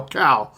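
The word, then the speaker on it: Kal: Kyle's standing there. Not Kyle, Cal. Cal. Spell that. C-O-W or C-A-L. no? It's K-A-L.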